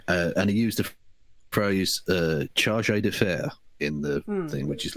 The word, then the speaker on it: chargé d'affaires: Indeed, but it's pronounced chargé d'affaires. Mm-hmm. Yeah. And but the guy obviously who never encountered this phrase before decided to pronounce it charges d'affaires.